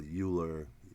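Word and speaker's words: Euler: I think it was a guy named Oiler some people uler eu l e r people pronounce that name differently uh but I think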